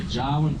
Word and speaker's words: Jawoyn: Jawoyn, it's like saying Darwin, but with a J, and it's spelt Jawoyn, Jawoyn.